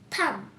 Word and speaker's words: thumb: বন্ধুরা, এখানে কিন্তু বিটা উজ্জ্বল আছে অর্থাৎ সাইলেন্ট আছে। THUMB, থাম।